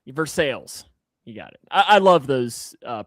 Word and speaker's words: Versailles: Versail. Versailles. You got it. I I love those uh pronunciations and stuff like that.